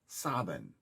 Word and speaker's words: Samhain: sun the fixed points specific to samhain s-a-m-h-a-i-n which in in in roman in in manx gaelic it actually uh is pronounced as saban as in s-e-v-a-n sovereign now when you have